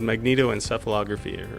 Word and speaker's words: magnetoencephalography: Our machine is called magnetoencephalography, or MEG for short. I'm glad you pronounced that for me because I've been unable to.